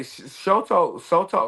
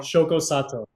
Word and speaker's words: Shoko Sato: I say Shoto Soto, how do you say his name? Um, Shoko Sato Shoko Sato.